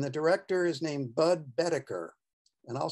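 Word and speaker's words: Boetticher: randolph scott and the director is named bud bedecker and i'll spell that b o e d i double t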